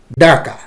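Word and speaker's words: डाँका: त भाइ बहिनीहरू, अर्को शब्द छ डाका, डाका, डाका। अलिकति हामीले यसलाई ड माथि चन्द्रबिन्दु दिएकोले अनुनासिक उच्चारण गर्नुपर्ने हुन्छ, डाका।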